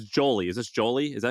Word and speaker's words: Jolie: Is this Jolie?